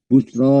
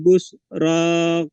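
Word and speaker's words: البشرى: Nah, makanya tadi Pak Alfian membacanya busro ya, padahal enggak. Padahal hanya busro qalu gitu. Baik, diulang Pak Alfian. Walaqad ja'at rusuluna Ibrahim bil busra qalu salama.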